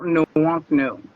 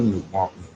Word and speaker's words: Nwonknu: Could you give everybody the proper pronunciation of that magnificent name you have? Nwonknu. Nwonknu.